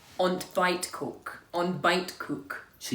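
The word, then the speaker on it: ontbijtkoek: on to fight cook on bite cook so you don't pronounce the I the J and the T um but on on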